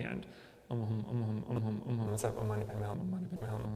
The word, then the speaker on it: Om Mani Padme Hum: Sometimes we do Om Mani Padme Hum, which is 6 syllables, but that tends to be a little bit more difficult as we chant faster.